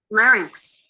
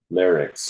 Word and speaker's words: larynx: you got to learn larynx larc larynx larc I've always pronounced that word incorrectly lyc so the lyc